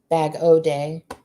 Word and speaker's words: Bag O Day: from bag of day bag o day is how she pronounces it i love her too